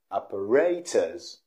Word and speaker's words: apparatus: in that syllable now the british pronunciation is operators operators that's a british pronunciation operators operators but the